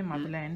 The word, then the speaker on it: Madeleine: Che si legge Madeleine perché è in francese.